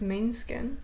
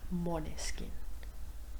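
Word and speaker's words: Måneskin: a week or two is it mon skin monis skin I thought it was main skin they're Italians it's like monis skin at least that's how they pronounce it so oh yeah love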